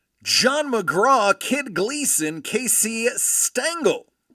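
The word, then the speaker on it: Stengel: John McGra, Kid Gleason, Casey Stangle rhymes with dangle and Connie Mack.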